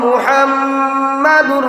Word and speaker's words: মুহাম্মদ: লা ইলাহা ইল্লাল্লাহু মুহাম্মাদুর রাসূলুল্লাহ। দেখো কা মুহাম্মদ কইতে সময় আরেক মাত আমার মনে হয়ে গেছে, না কইলে পারিয়ান না। মুহাম্মদ ও শব্দগু উচ্চারণ করতে দুইটা টুট না লাগাইলে উচ্চারণ হয় না।